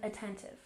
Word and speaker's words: attentive: And attentive. Stress on the second syllable.